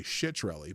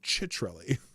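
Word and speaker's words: Ciattarelli: Okay, so his name is pronounced Citrelli. Which people accidentally sometimes say Shitrelli, but it's Chitrelli.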